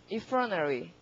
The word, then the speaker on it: effrontery: 근데 발음이 되게 어려워요. effrontery랍니다. effrontery. 그러니까 front 할 때 O의 강세가를 받으니까 T 소리가 되게 안 나는 거죠. 그리고 앞에 EF도 소리가 안 나요. 그러니까 그냥 막 들으면 frontery 이러는 것 같습니다. 이 소리도 안 들려, T도 안 들려 이러니까.